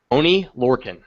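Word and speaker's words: Oney Lorcan: Oni Lorcan.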